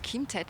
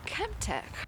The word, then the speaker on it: ChemTec: No, not Kim Ted. Kemp.